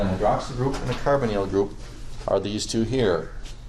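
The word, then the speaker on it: carbonyl: I don't know why this is called like a short I sound like hydroxal and this is like a carbonal like a long e.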